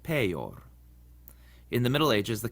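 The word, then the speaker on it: peior: Also, when the I is in between two other vowels later on in the word, it acts like a consonant too. So it's huius and peor.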